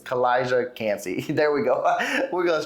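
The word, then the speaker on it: Kalijah Kancey: the defensive tackle position collage cansey and I think I just pronounced his name wrong just because it rolled off my tongue wrong it's kalijah cansey there we go we're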